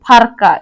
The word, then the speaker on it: पारका: जपा निकट पारका दूर और नगरी मुंडारी में पारका को फारका इस तरह से उच्चारण करते हैं। परका को क्या कहते हैं? फरका।